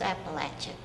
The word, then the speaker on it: Appalachian: But he always said, if you want to know how to pronounce it, Snake says Eve, if you try to deceive, I'll throw this Appalachian.